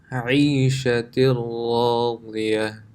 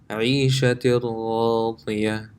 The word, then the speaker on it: عيشة راضية: This tanween, the noon, if it was by itself, it would be pronounced عيشة, but that noon sound is completely gone and it's connected to the ra. عيشة راضية. عيشة راضية.